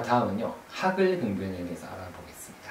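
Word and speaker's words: HAGL: 자, 다음은요, 하글 등변에 대해서 알아보겠습니다. 하글, H-A-G-L 그러죠. 하글, 하글이라고 읽어요.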